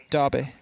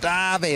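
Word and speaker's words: Derby: at the very start how do you say the word darby darby darby it's quite plain actually i thought you'd be like dabby or something like that the thing is the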